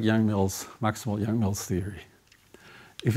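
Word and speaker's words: Yang–Mills: if just as finite as any goals for young male's theory not proven to be divergent in higher drops was not pronounced young males his divergence in six dimensions well young mills young mills is uh yes it's divergent above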